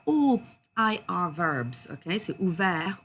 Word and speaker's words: ouvert: Okay, so ouvert, offert, souffert, découvert. And please do not pronounce that T at the end.